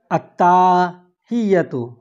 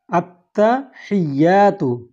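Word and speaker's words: التحيات: অনেক কেউ বলে আত্তাহিয়াতু, এটি ভুল উচ্চারণ। শুদ্ধ উচ্চারণটি হবে আত্তাহিয়াতু, আত্তাহিয়াতু লিল্লাহি, লিল্লাহি, আত্তাহিয়াতু লিল্লাহি, ওয়াসসালাওয়াতু, ওয়াসসালাওয়াতু।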